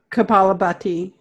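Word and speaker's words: kapalabhati: Kaphlabhati. Yeah. Can you pronounce that again? Because I always pronounced it kaphlabhati, and you're saying, can you say it again? Because it's Kaphlabhati.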